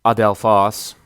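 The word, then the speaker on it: ἀδελφός: for brother it is adelphos and it prefers as I said to be accentuated on the last syllable in the dictionary you'll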